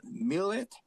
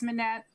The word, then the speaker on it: Manette: Um, next one is how do you pronounce it? Millet. Unmute yourself, please. Hi, Manette. My name is Manette.